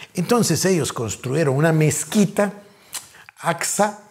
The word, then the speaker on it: Aqsa: Entonces ellos construyeron una mezquita, Aqsa. Algunos lo pronuncian Aska, pero yo leo A-Q-S-A.